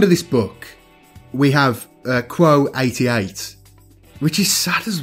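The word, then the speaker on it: Qvo: So let's talk Quo. And it's spelled Q-V-O. So I'm just going to go with the pronunciation that I heard in the audiobook.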